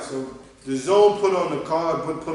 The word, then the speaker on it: DAZN: The Zone, yeah, I'm sorry, I always pronounce it wrong. The Zone, DAZN, the app.